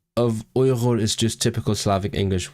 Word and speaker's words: Uyghur: Because the English one is Uyghur, right? Uyghur, and it feels very wrong.